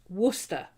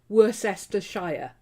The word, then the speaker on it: Worcestershire: with worcester sauce and it is worcester okay it's not worcestershire america it's not it's spelt worse esther shire but it's worcester okay it's not by